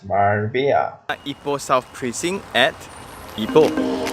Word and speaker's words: Marbella: It's actually pronounced as Marbella.